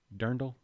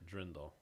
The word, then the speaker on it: dirndl: who has a point it's not drendel no it's not like a dremel i have a dremel see it's d-i-r dirndl that's d-i-r but i